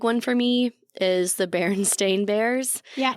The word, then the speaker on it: Berenstain: Another big one for me is the Berenstain Bears.